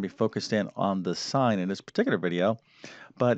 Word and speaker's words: sine: The sine, that's not sin, that's the sine. That's how we, it's spelled S-I-N-E, sine.